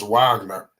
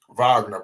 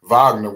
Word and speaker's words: Wagner: on them you got France Wagner Vagner pardon me you know I gotta get these pronunciations down Vagner with the mid-range over